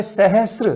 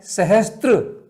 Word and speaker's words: सहस्र: ऐसे सहस्र में शब्द है सहस्र, से में रह है, आधा से और पूरा रह, संयुक्त व्यंजन है, लेकिन हम उसको पढ़ते क्या है? सहस्त्र। कितना गलत उच्चारण होता है।